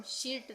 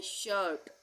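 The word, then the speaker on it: shirt: इसको हम शीट नहीं पढ़ेंगे। इसको हम पढ़ेंगे शर्ट। क्योंकि आई के बाद आर आ रहा है।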